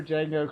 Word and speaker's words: Django: Oh, I like that where Django crows the J in the guy's face because D is silent. That was fantastic. That's his catchphrase. The D is silent.